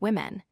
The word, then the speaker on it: women: The word woman is pronounced wu man and becomes women pronounced women.